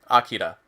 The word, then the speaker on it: Akira: time i ever watched freaking akira or akira if i want to pronounce it correctly and that ended up